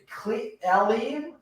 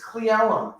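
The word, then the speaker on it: Cle Elum: Wow, you pronounced it correctly because last time you were like, Elium? Elium? No, it's Cleellum, and it's Oregon, not Oregon.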